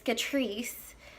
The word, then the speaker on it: Catrice: name wrong so it I always want to say Kat right and I don't know why it's Catrice don't know what's wrong